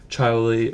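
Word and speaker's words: Chaoli: made by a company called kyi or Chi um it's spelled c h a o l i and they make motors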